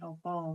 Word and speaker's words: apa: Yang Jogja itu menggunakan vokal o ya, apa jadi opo, walaupun tulisannya tetap apa, dibacanya pelafalannya opo. Tapi kalau di Banyumas itu tetap apa.